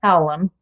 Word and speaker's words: Hallam: I believe she pronounces her last name Hallam.